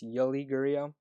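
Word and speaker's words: Yuli Gurriel: up yuri yori guriel i just pronounced that name wrong i would say yuri it's yoli gurio twenty eight hundred dollars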